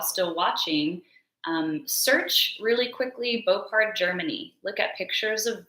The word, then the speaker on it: Boppard: So an example, I'm not 100% sure how to pronounce this. It's either Beaupard or Boppard. We're going to say Beaupard.